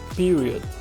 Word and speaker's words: period: Nós temos ao menos um schwa sound na letra O, então a pronúncia correta seria period.